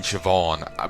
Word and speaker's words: Siobhan: There's a fucking B in Siobhan, but you don't fucking say a B.